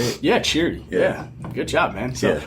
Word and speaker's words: Chiry: about next is like, so how'd you start Chiry? Is that how you say it? Yeah, Chiry.